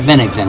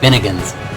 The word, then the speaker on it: Bennigsen: Count von Bennigsen. We saw that. Yeah, that was one person I had difficulty pronouncing. I was saying it like Bennigan's, like the restaurant.